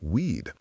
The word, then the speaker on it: Wade: The politically ambitious Richard Allen Wade was sensitive about his last name, which was pronounced Weed.